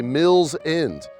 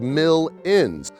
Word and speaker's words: Mill Ends: name is often mispronounced people's instincts are to say Mills End technically the phrase is millins and this term comes from our logging history the millins are what's